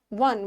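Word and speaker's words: one: बट यहाँ ओ का pronunciation ना आउ नहीं आ रहा है, यहाँ वो ओ का प्रोनाउंसिएशन क्या हो रहा है, वन व, जिसको हिंदी में डब्ल्यू बोलते हैं, डब्ल्यू से व होता है।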